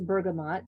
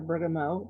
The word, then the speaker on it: bergamot: the next one is bergamot or bergamot depending on where you live and how you say it it's a floral